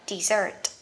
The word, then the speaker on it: dessert: Vậy các bạn nhớ nha, sa mạc một chữ S sẽ đọc là desert. Còn món tráng miệng của mình hai chữ S, cái này sẽ đọc là dessert.